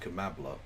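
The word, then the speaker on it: Kamala: now we have um Cala Harris who is doing like a Hillary Clinton I'm so it's pronounced kambla please have some [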